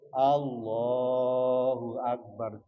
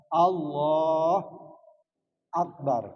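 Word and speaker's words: الله أكبر: Harus urut Allahu Akbar. Jangan Allah Akbar. Nggak boleh.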